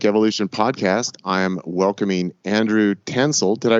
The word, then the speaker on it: Tansil: on the entheogenic evolution podcast I welcoming Andrew tansel did I pronounce that correctly nailed it okay I should